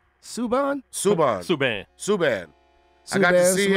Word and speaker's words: Subban: How do you say his name? Suburb? Subban.